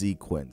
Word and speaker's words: Xequence: It's spelled Xequence, but it's pronounced Xequence.